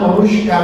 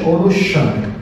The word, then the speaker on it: অনুস্বার: আসলে এটা নাম অনুষ্কার না, এটা নাম হচ্ছে অনুস্বার। এখানে কোনো ঠিক নাই, ওকে? অনুস্বার। এটার উচ্চারণ কিসের মতো? এনজি এর মতো।